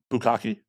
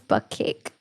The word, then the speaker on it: bukkake: Bukkake? What? I always thought it was butt cake. No, bukkake. Bukkake. Because Tadpole would say bukkake, and I was like, I think it's butt cake. No, it's He's bukkake.